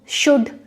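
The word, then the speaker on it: should: यहाँ पर डी से पहले अगर आपका एल आया है, वुड, कुड, शुड, तब आपका एल प्रोनाउंस नहीं होता है।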